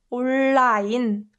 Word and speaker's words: 온라인: And strangely, in English, it's easy to pronounce un and l together, online, online. But us Koreans don't really find it that easy to say online. It's just so uncomfortable on our tongue. So we can say, so you can pronounce it like this.